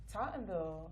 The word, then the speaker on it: Tottenville: Tottenville.